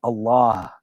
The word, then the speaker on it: Allah: from a pronunciation standpoint the AL if comes from the throat the L in Allah is a full mouth letter and the ha is aspirated so like in Every Breath You can say Allah do you know and